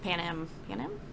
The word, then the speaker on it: Panem: With, like, the culture is honestly changing in Panem?